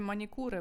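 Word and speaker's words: manicure: я вимовляю манікюр педкюр але італійці як вимовлять Ану давайте почитайте мені скажіть в голос Я вас чую так вони кажуть манікури педікури Ну то що є що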